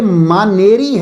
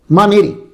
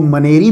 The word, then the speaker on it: مانیری: میں بیان کرتے ہوئے، تو میں منیر کا نہیں، یہ مانیری ہے. مانیری. تو بہتر تلفظ جو ہے وہ وہی بتائیں گے جو وہاں کے رہنے والے ہیں، وہ بہتر تلفظ بتائیں گے. تو اس لیے وہاں جو منظور قادری صاحب جو بولتے ہیں وہ منیری بولتے ہیں.